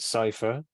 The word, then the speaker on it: Psiphr: But the podcast is called Cypher, but it's spelled like PSIPHR because we're cool.